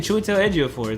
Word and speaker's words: Chiwetel Ejiofor: Chiwetel Ejiofor.